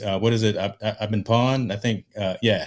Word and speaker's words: Pwned: I've been pawned. I think, yeah. Have I been pawned? That it doesn't, it's spelled weird, PWNED, but that actually is